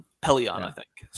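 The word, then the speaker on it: Pellaeon: I thought that was a great question Admiral paleon Pelion I think is how you say it yep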